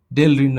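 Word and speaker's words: Delrin: জলীয় দ্রবণকে নিম্নচাপ উত্তোলন, মিথানেল, মিথানেলের পলিমার, মিথানেল, সবাই একটু তাকাও, মিথানেল, এইটার পলিমারের নাম হচ্ছে ডেরালিন, ডেরালিন, ডেলরিন উচ্চারণ হচ্ছে ডেলারিন, ডেরালিন হবে।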